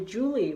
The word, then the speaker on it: Juli: This is my mom and dad, and my mom's name is actually Juli, which is spelled Juli, like July in German.